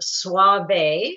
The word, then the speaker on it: Soave: I got this off of the trade website for Soave, and it's pronounced Soave.